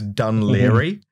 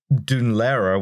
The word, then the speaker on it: Dún Laoghaire: People say that it's like, because the anglicized pronunciation, which like half of people use, is Dún Laoghaire.